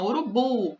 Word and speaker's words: urubu: Na palavra urubu, a sílaba forte é a última, urubu, bu.